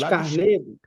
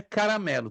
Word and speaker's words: Carmelo: monte está aí escrito Monte Carmelo Carmelo Carmelo Carmelo isso não é caramelo Teve um aluno que de pastor é caramelo ele tava com fome né ele repetiu umas quatro caramelo cara não existe um monte de caramelo meu irmão você com fome é Monte Carmelo se colocar o ar vira caramelo então é Carmelo perfeito e lembra você